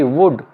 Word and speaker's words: would: इसके अंदर L से पहले OU आया हुआ, तो ये L साइलेंट होगा। WOULD वुड, वुड, ये L से पहले OU आया हुआ है।